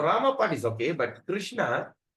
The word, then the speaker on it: Krishna: okay okay your Rama part is okay but Krishna kishna Ah that's I went wrna not not wrong